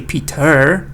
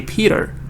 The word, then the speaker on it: Peter: first one is Big because the stress is on the first one I don't say Peter I say Peter Peter Peter painted pictures